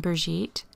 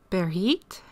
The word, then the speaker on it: Brigitte: And this one, and again with the pronunciation, I always pronounced her name Brigitte, and then I heard her introduce herself. And I replayed it and replayed it so I could try and get it right, but I know I'm going to butcher it. The way she pronounced it, it made it sound like the G was silent, so I'm embarrassed to even try to say it. It sounded like she was saying Berit, and again, I'm not